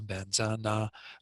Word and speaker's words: Vajra: And again, this word Vajra in the first line is pronounced Benza by Rinpoche, and then in the very second to last line, Benzana is how what looks like Vajrana.